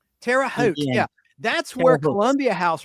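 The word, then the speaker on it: Terre Haute: It's pronounced terraoot. Terraote.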